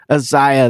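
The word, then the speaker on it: Aziaha: Azaha? How do you say it? I'm sure you've watched Isaiah. It many times. Isaiah, that makes sense.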